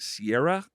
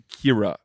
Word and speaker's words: Kira: I've been pronouncing it Sierra, and Sienna. it is Kira O'Sullivan.